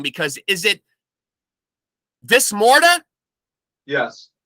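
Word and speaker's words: Dis Morta: want to say it wrong because is it this morta yes this morta okay okay um uh so explain to me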